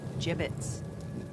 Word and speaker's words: gibbets: of here hey look avery had some gibbots left over gibbets what it's pronounced gibbets are you sure yeah